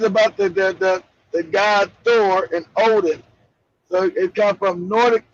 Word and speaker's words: Odin: Not Yeah, wooden. Yeah, the pronunciation, where Spike said wooden, no, it's Odin.